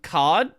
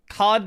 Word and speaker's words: card: It's more like um card like card versus card. It's like a a extension of the R sound, I guess, because I